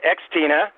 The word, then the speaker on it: Xtina: And now that I know that it's pronounced Xtina, hi, Xtina. I wasn't sure if the X was silent or not until I heard the show.